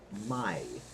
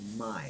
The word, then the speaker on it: mai: My, M-A-I. A-I is always pronounced I. Like your eye, you know, that you see out of. I. So the word is my.